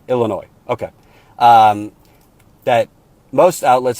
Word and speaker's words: Illinois: say that he is Illinois is pronounced out the S so Illinois okay um that most